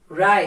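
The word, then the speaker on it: wry: गुण और वाइस बुरा राय इसकी प्रोनंसिएशन प ध्यान दीजिएगा दोस्तों इट्स डब्लू आर वाई इसमें डब्लू साइलेंट होगा हम बोलेंगे इसको राय और स्ट्रेट राई का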